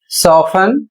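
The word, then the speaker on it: soften: अगला शब्द है एस ओ एफ टी ई एन इसे पढ़ा जाएगा सोफन और इसकी हिंदी होती है नरम करना।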